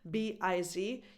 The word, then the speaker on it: biz: So if you ever see this short word, this abbreviation, B-I-Z, you now know it's short for business, and it's pronounced biz.